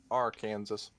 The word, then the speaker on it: Arkansas: I'm still trying to figure out why Kansas and Arkansas are spelled the same but said differently. Because America. Arkansas.